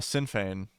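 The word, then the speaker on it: Sinn Féin: Shin oh oh yes Shan was the right one yeah I'm just it's it's spelled different than it's pronounced cuz it's Irish yeah also by the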